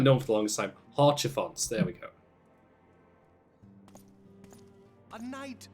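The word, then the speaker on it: Haurchefant: Ah, that's how you pronounce his name. I haven't known for the longest time. Horchifons, there we go.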